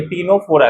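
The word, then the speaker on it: Ctenophora: तीसरा देखिए, टीनोफोरा किससे होगा? है ना, सी साइलेंट होता है, इसका एक एग्जांपल है टीनोप्लाना।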